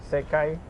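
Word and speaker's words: 世界: So Yeah, how this do you world, pronounce these this? two is like Sekai.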